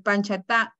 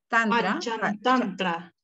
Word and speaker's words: Panchatantra: Que es difícil de pronunciarlo, el Panchatantra. Panchatantra.